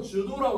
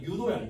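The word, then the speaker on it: judo: 여기서 주도라고 나왔잖아요. 유도야, 유도. 됐어요? 여기서 J는 묵음이고요.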